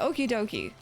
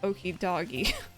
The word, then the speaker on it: Okidogi: I'm saying like Okidoki, right? So Okidogi, I think, might be how you say it. That purple scarf it wears is so lovely. Saw it wandering around in the Barrens. Okay, Oni Mountain, Barrens. Yeah, Okidoki, so not Okidoggy.